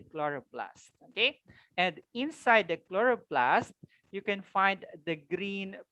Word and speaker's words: chloroplast: Chloroplast. Again, this is pronounced chloroplast.